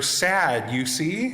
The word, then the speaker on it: Sadducees: testament teacher said um that is easy to remember because they're sad you see and i was like oh all right so these three groups the the pharisees the sadducees and the herodians and